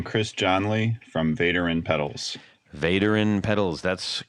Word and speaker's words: Vaderin: guest hi I'm Chris johnley from veteran pedals veteran pedals that's correct you hey you got that